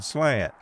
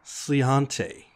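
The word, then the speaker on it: Sláinte: You mean slant. It's actually pronounced Sliante.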